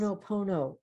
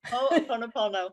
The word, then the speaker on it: Ho'oponopono: Ho'oponopono. Ho'oponopono. Yes. Oh, okay. I think the Hawaiians say ho'oponopono, like they emphasize the second O. Ho'oponopono. Oh, that's almost easier. Is it? Ho'oponopono, pono.